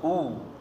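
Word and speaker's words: هو: Huwa hu. Huwa hu, karena diwakafkan jadi bacanya hu.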